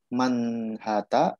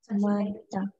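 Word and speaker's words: 많다: Dibacanya yang benar manhata atau manta. Ada yang tahu? Manta. Manta. Oke, kenapa manta?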